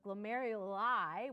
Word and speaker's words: glomeruli: this glomerulus used to do okay but the glomeruli which is how you say it plural are